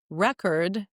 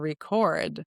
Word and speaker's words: record: pronunciation we also can talk about record and record right is a noun record is a verb and there all these